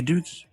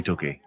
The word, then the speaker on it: Doogie: You guys say Doogie. I say Dougie. I was lost forever. Within about 10 minutes of talking to him, he told me, don't say Dougie. Make sure you pronounce my name Doogie.